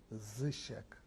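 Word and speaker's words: Zysiek: At birth the same, but they called me Zizek too. Z-Y-S-I-E-K. The city and country that you were born in, and spell it.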